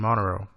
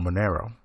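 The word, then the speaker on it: Monero: ripple like coin and Montero or Manero depending on how you say it or they have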